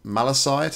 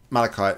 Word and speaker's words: malachite: see there okay so the green one is malecite I think is how you pronounce it is a copper mineral known for its green color and can be used to create durable pigments yrk malachite sorry the white one is